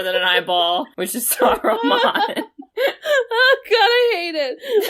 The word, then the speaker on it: Saruman: Saruman. There's another syllable.